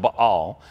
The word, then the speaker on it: Baal: number of times in scripture it's technically it's pronounced Bal and meab Baal is not a boy who